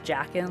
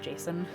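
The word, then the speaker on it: Jacen: solo you know like which i always pronounce this jaqen like j-a-c-e-n but um i've been told it's pronounced jason um so i don't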